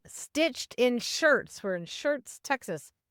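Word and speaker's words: Schertz: We're in Shirts, Texas. It's H E R TZ, not like a shirt you wear, but sounds the same, I think.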